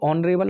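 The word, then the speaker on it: honorable: तो साथियों ऑनरेबल आपने इसे प्रोनाउंस किया तो कैसा साउंड आया बताओगे मुझे? तो आप कहेंगे सर बिल्कुल, क्यों नहीं बताएंगे, ये वोवेल साउंड है।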